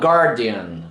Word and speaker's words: guardian: Tant en la paraula guardian com en la paraula guard, fixeu-vos que la U no es pronuncia.